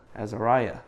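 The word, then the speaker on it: Azariah: He had Daniel, Aniia, Michal and Aaria. Aariah.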